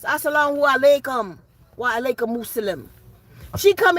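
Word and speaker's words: as-salamu alaykum: Not even saying it right. It's assalamu alaikum.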